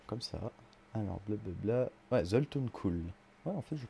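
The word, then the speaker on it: Zoltun Kulle: Je sais toujours pas si je le prononce juste. D'ailleurs, bon, on n'a qu'à voir ça comme ça. Alors, blablabla. Ouais, Zoltun Kuhl.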